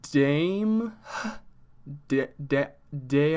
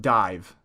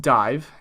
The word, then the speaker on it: Daimh: try so this group dame day i'm that it's pronounced dive gaelic pronunciation who knows they're just doing whatever they want over there but it's pronounced dive and this group consists